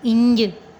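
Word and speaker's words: ڃ: इसका भी उर्दू में कोई हुर्फ नहीं होता, लेकिन हम इसको इस तरह प्रोनाउंस करते हैं जिसमें अलिफ, नून और जीम की आवाज़ आए, यानी इंय।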